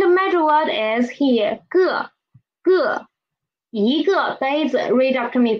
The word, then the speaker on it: 个: cup is 一个杯子, and please pay attention to the 个 here. When we are learning it individually, it is a fourth tone syllable, but when we are using it as a major word, it is usually neutral tone, so it is not 一个杯子, it's 一个杯子.